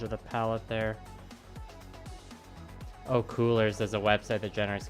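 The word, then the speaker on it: Kuler: Oh, Coolers is a website that generates color schemes.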